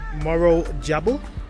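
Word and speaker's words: Morro Jable: this is magic so we've just arrived in Moro jabble that's how it's pronounced part up birth Rover here beautiful little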